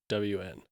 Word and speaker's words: Ghosn: So the S is silent. and the H. Well, gone. Gone. GH. The way they spell it for pronouncing it is just yes. GOWN.